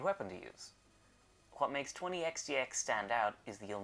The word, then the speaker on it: 20XX: this is a family cast video review for 20 xdx done in 10 dos which my name is